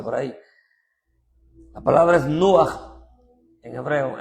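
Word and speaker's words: נוח: Nuaj se parece a Ruaj, pero es con N.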